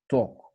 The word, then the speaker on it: torque: it from today that this word is pronounced as talk talk yeah uh awesome so